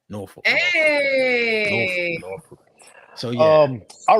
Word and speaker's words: Norfolk: Yeah, that's how they say it up there, Norfolk.